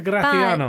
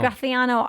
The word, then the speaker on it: Graciano: So, but back to Graiano. Graciano. I do think Wait, you said it again. I do think you first of all, you got to say it correctly if you can.